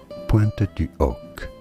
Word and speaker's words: Pointe du Hoc: It is said in French as Pointe du Hoc. Pointe du Hoc. Silent H as always in French.